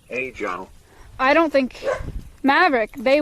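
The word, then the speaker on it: ejiao: it's the mandarin one brian scuffs it a little bit but it's pronounced roughly age i don't think maverick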